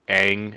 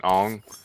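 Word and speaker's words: Aang: bad as the movie they actually pronounce Ang Ang not on that's good yeah the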